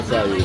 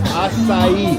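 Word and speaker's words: açaí: Acai. That's that fruit. Yeah. That's fruit. It's pronounced acai.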